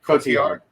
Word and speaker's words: Cotillard: I can never pronounce her last name. Cotillard.